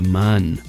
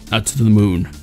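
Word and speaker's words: Mün: And yes, I know, I get comments all the time saying, it's not Moon, it's spelt Moon. It's got two asterisks on the top of it.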